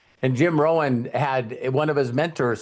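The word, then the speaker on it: Rohn: you with the Jim Rowan story because I love it where Earl Scha his mentor and his name is spelled R O H N. And Jim Rowan had one of his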